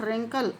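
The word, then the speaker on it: wrinkle: They do नॉट रिंकल, रिंकल mean सलवटे पड़ना, इसको W silent है इसमें।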